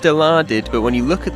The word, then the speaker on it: Dilaudid: Now, it's based on the real-life drug with the brand name Dilaudid. Now, it's pronounced Dilaudid, but when you look at the word, your first attempt would probably be deluded.